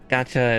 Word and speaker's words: gacha: Which is funny cuz yeah, gacha is just the Japanese way to pronounce gotcha, which is what he's just saying the same thing.